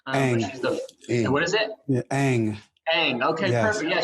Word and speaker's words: Ng: I'm not sure exactly how to pronounce it. Ang. What is it? Yeah, Ang.